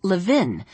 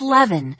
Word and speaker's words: Levin: During roll call, their teacher, Miss Malentantis, had mispronounced Jessie's last name as Levin, rhyming it with the pin, and Jessie had surprised herself by speaking up and saying, "It's Levin, rhymes with heaven."